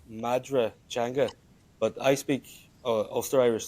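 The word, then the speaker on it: Madra Teanga: It's Madra Changa but I speak Oster Irish. So we would say Madu Changa.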